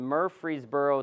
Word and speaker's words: Murfreesboro: in their 50s and 60s he lives in Murfreesboro Tennessee did I pronounce that correctly anyone know where if it